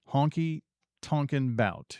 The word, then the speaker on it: Honky Tonkin Bout: Honky Tonkin Bout. Yep, that's how you say it.